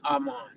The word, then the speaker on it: Arman: Now jam said, "How Arman get in it?" That's how you say his name. Arman.